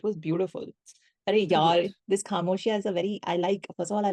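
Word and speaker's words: خاموشیاں: And it's also not just Khamoshiyan, no, it is Khamoshiyan. It's the way he's saying it. It's that so full, like, yes, that syllable पे stress is just beautiful.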